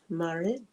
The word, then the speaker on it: Marit: I is pronounced like I and is. Marit. And 2 A's as long as in March.